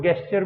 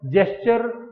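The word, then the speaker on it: gesture: जेस्चर को कुछ लोग गेस्चर भी बोल देते हैं, वो अपना अपना प्रोनाउंस करने का तरीका है। जेस्चर इज the real word.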